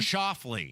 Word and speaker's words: Schauffele: How do you pronounce his last name? Xander Schauffele.